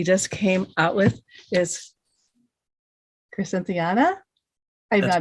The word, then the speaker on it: Crescenciana: book that he just came out with is Crescenciana. I'm That's not pronouncing it. Is that right? you nailed it, Leanne. That's right. All right, Crescenciana.